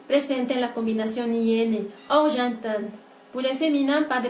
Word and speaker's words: argentin: Por la pronunciación de argentin, para pronunciar argentin, se está produciendo dos sonidos nasales. Una primera que es la A, que aparece en la combinación EN, y otra vocal nasal que es la E1, oui, presente en la combinación IN, argentin.